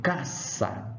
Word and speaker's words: casa: acontece por exemplo casa casa em português é casa não mas em Latim é caça caça vocês vão ver